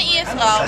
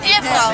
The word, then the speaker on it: Ehefrau: Meine Ehefrau. Meine Ehefrau? Ehefrau. Ehefrau? Yeah. How do you spell it?